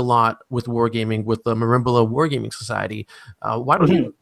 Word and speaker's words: Merimbula: Down in Australia, you're doing a lot with wargaming with the Merimbula Wargaming Society. Why don't you tell us a little bit about that? Well, I'll correct you. It's Merimbula, is how it's pronounced.